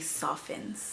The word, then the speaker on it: soften: Like one of my subscribers corrected me that the T in soften is silent. So if you give it some time, you'll notice that the hair actually softens.